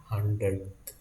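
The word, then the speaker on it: hundredth: There is a th in the last of that word. 100th.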